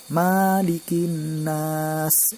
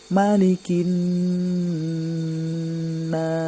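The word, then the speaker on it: مَلِكِ النَّاسِ: Cara membacanya adalah Malikin nas, nunnya ditekan, lalu mad arid sukunnya, bukan Malikin nas, itu kurang tepat. Akan tetapi mimnya dibaca pendek. Malikin nas, nada yang kedua datar. Malikin nas.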